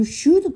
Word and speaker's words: should: 얘기하고 싶으면 You should come 드 발음은 살살 혹은 발음하지 않고 You should come이 아니라 You should